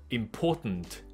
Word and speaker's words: important: 可是就母语人士会很容易把它就一个换过去，所以用一个鼻音带走 important, important, importance。不管是名词或者形容词都一样，所以他用的也就是母语人士的发音方式。It's very important that，然后就接过去。